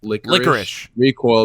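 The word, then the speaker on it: Lycoris Recoil: i'm pretty i'm like 99 confident it is pronounced licorice recoil because in the japanese dub i my ear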